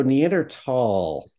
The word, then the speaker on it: Neanderthal: scolly um is it neander Thal or tall what should I say there so so Neer tall is the the pronunciation so so in German the H is silent and so actually if